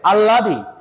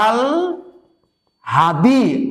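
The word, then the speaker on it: আহ্লাদি: এই উচ্চারণটা হবে হচ্ছে আল হাদি, আল হাদি। এই উচ্চারণটার নাম হচ্ছে আল হাদি। কেন? হয়ের সাথে যুক্ত অবস্থায় আছে ল, লয়ের উচ্চারণটা অবশ্যই হয়ের সামনে নিয়ে আসতে হবে।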